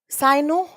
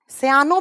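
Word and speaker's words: cyano: कोबाल मन कोबाल मन साइनो या साइनो सयानो भी बोलते हैं इसको या साइनो बोलते हैं जो भी नाम से आप प्रोनाउंस करना चाहते हैं कर लीजिए देखिए जब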